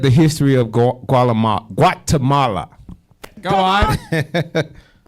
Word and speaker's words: Guatemala: Did I say it right? No, you did not. That is not Gualamala. It is Guatemala.